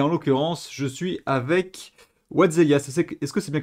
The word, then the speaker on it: WhatTheHellia: le font et en l'occurrence je suis avec Watzelia. C'est est-ce que c'est bien comme ça qu'on prononce ?